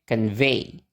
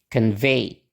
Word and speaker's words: convey: jadi contact gitu kan Nah tapi di sini ee suku kata yang ada o-nya itu enggak distes Berarti stresnya ada di suku kata yang kedua kita pakai pola yang nana nana Oke berarti Gimana bacanya Iya betul bacanya convey convey Oke kita lanjut ke